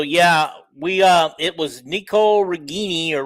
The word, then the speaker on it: Ragaini: And okay, So yeah, we it was Nicole Regini or Regani. Say it out. Say it properly. Ragaini, according to his mother.